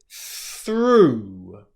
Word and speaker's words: through: The next word is through, through, through, through.